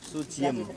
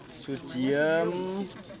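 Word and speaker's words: Sudjiem: cincinnya bar enggak enggak sujiem ejaan lama ejaan lama ejaan lama su d i j e m sujiem terus 10 20 ada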